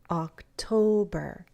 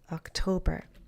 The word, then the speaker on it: October: So associate pumpkins, and now think about October. Bum, bum, bum. October, right? October.